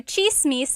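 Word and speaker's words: tsismis: One thing, in Tagalog, it's spelled with a TS. The TS combination makes that ch sound.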